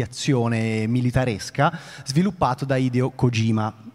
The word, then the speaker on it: Kojima: militaresca sviluppato da ideo kojima sto pronunciando la g in maniera molto scandita perché sennò Matteo si arrabbia Ma io sono Toscano